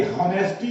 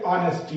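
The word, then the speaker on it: honesty: अगला, my father, FATHER, my father beliefs, BELIEVES, believes in ऑनेस्टी, लिखते हॉनेस्टी हैं, पढ़ते ऑनेस्टी हैं। ये H साइलेंट करके बोलोगे तो ऑनेस्टी आवाज निकलेगी, लेकिन लिखते हॉनेस्टी।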